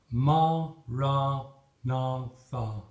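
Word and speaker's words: Maranatha: single word we recommend the prayer phrase Marat natha recited as four syllables of equal length listen to it as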